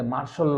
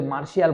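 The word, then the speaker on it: martial: আইয়ুব খান কত 1958 সালে মার্শাল ল জারি করে। এই যে একটা আর্মির ভাষা, ওরা কিন্তু মার্শিয়াল বলেন, ওরা কি বলছে?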